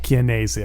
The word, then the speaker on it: Dominic Chianese: No, it's definitely a hard k at the beginning. Chianese? Chianese, I think that's what it is.